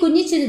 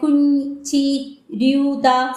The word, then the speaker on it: Kunjithidha: It is actually Kunjithidha and Kate is calling her something like Kunjithanda, something like that.